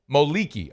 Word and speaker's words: Moliki: Moliki. So I was saying Moliki. So it's Moliki on the E? Yep. Moliki.